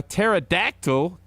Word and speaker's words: pterodactyl: can't you hear a pterodactyl going to the bathroom I don't know I don't know why can't you because the p is silent that's that's pretty good